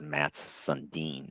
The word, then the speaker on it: Mats Sundin: It's Mats Sundin. That's how that one's pronounced.